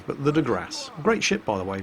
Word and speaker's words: de Grasse: It's not the de Grasse, you don't pronounce the E, but the de Grasse.